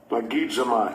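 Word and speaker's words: logizomai: Because if you're like me, man, I can pronounce half of these Greek words. So it tells you. 3049. Lagizomai.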